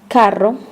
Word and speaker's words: carro: To pronounce the double R sound properly, English speakers need to learn to trill your R's. Try making a purring sound like a cat. Feel your tongue vibrate.